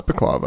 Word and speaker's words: balaclava: Balaclava, I keep thinking I'm saying it wrong. It's Balaclava, I think. It sounds like baklava. That's why.